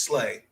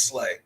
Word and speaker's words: Slay: I think him on the other side of, I believe it's Darius Slay, if I'm saying his name right.